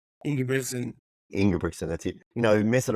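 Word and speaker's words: Ingebrigtsen: two you know yob brickson how do you pronounce his last name in Brion in brickson that's it you know messing around at the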